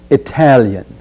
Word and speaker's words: Italian: focus on is Italian notice the beginning has the sound of I as in igloo it Italian the next key word